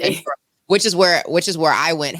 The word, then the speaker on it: Edinburgh: Wait, is that how you pronounce it? Edinburgh? Edinburgh, they say. Edinburgh.